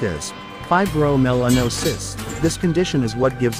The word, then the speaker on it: fibromelanosis: Pronounced as fibromelanosis, this condition is what gives Ayam Cemani chickens their enchanting all-black appearance.